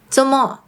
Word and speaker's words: 做麼: The first one is 做麼 (zomo) This is how they usually pronounce it: “zomo" 做麼 expresses the meaning of “做什麼 doing what” or “為什麼 why”.